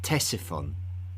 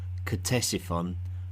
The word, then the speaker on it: Ctesiphon: Its name is Ctesiphon, although you may hear it also called Ctesiphon by those who pronounce the otherwise silent C at the beginning of its name.